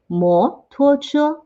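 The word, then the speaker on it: 摩托: uh this is one we kind of borrow the pronunciation from english and we find two similar pronounced characters so that one should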